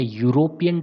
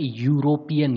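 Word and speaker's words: European: a book, A yellow car, ए यूरोपियन trip, you से start हो रहा है, स्पेलिंग ई से स्टार्ट हो रही है, लेकिन साउंड जो है यूरोपियन, यू कोई जो है आपकी वोवेल साउंड नहीं होती है, कोई स्वर नहीं होता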